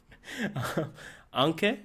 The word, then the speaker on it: Anke: Anke, is that how you pronounce it? Mm-hmm. Anke, thank you.